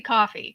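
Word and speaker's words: Ko-fi: to look more into Kofi Kofi Co coffee it's coffee K fi it's supposed to be coffee because you buy coffees for yourselves on there so it's it's actually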